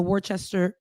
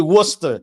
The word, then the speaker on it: Worcester: a candidate for the Wartchester Warchester Bend. That's your city. You know, it's actually Worcester. And I I don't ask me why it's pronounced like that. But yes, go ahead. Worster sauce.